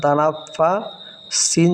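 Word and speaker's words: تَنَفَّسَ: নাফ, ফা জবর ফা, তানাফা। সিন জবর সা, তানাফাসা ছিল, এখানে অক্ফ হওয়ার কারণে এখানে সিনটা সাকিন হয়ে যাবে, তাহলে উচ্চারণটা হবে তানাফাস।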